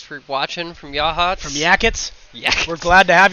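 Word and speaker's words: Yachats: My parents used to call it Yatchets. Yatchets. Yatchets. I believe that's how they used to pronounce it. I've also heard Yakots. Yakots? It's Yahats.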